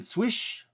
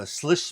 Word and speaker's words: Slysz: This one happens to be the uh Spyderco uh Maren Swiss uh Bowie. Uh so this was actually called the Now if you're a fan of Nick Shabbaz, it's the Sllis Boy or the If you're uh Polish, it's Swiss.